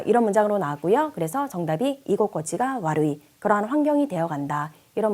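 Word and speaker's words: 居心地: 이곳꼬치가 와루이라고 읽고요. 이 코에 니고리가 생기죠. 땡땡.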